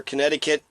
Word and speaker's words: Connecticut: Pennsylvania Rhode Island Delaware Connecticut connect connect it cut Connecticut is can connect like you spell it connect c-o-n-n-e-ct it cut connect to cut and connect the cut that's uh that's an